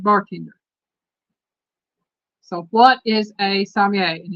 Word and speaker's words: sommelier: So what is a sommelier? And it's Sommelier. They pronounce it a Subway. Sommelier. Sommelier. It is a French word. The R is kind of silent.